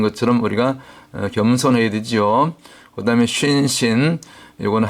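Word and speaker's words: שׂין: 우리가 겸손해야 되지요 그다음에 신신 요거는 한 글자인데 점이 오른쪽 가면 쉰 왼쪽으로 옮겨가면 신 발음상의 강력이 좀 차이가 나고 이빨 모양이니까 영적으로는 재와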